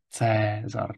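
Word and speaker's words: Caesar: tak říkáme slávy ja Latina měla eh dvojhlásky AE a OE eh které se ve středověké výslovnosti čtou obě jako jako dlouhé e takže například ve jméně Cézar Čteme Cézar dlouhé e Pokud zůstaneme ještě u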